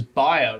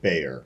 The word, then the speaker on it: Bayer: out was uh was Baer right Baer kind of blew up the other week so for like and you're not saying it the wrong way you're actually saying the right way but Americans say it Bayer oh so like which